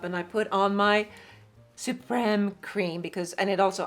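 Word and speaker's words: Supreme: Revitalizing Suprem, pronounced suprem.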